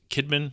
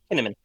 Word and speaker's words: Kinnaman: his last name as how do you spell pronounce Joel's last name? Is it Kidman? Kiddman. Kiddman. Kinnaman.